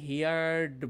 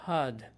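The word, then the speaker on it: heard: সো হিয়ার হচ্ছে শোনা, হিয়ার past অনেকে ভুল করে হিয়ার্ড বলি, বাট সঠিক উচ্চারণ হচ্ছে হার্ড, হিয়ার, হার্ড, হার্ড, হিয়ার্স, হিয়ারিং, হিয়ার, হার্ড, হার্ড, হিয়ার্স, হিয়ারিং।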